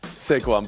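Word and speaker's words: Saquon: so let's Champion that very interesting second syllable emphasis on Sequon Barkley there uh buy orell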